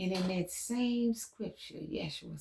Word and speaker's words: Yeshua: So call him Yeshua real name. Even the name is cuz spirit told me to tell y'all Yeshua. Yes. you. The code is in his name. The correct pronunciation is Yes. You Yeshua.